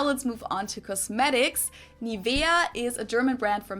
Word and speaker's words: Nivea: English native speakers usually say Nivea. Yeah, okay. In German, we say Nivea. Nivea. So the emphasis is on the E.